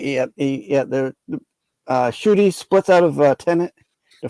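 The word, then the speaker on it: Ncuti: Because you're still gonna have David Tennant as the 14th Doctor, and then Shooty or however you pronounce it is going to be 15th, right? Shitty. Yeah, Shooty got right.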